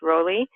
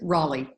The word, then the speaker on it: Rolle: So, I'm pronouncing your last name right? No. Am I? No. I can fix that. Okay, well, just tell me. How do you pronounce it? Yes, it's Raleigh. Raleigh.